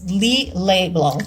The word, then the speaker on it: Lillet Blanc: It's Lillet Blanc, as it's pronounced.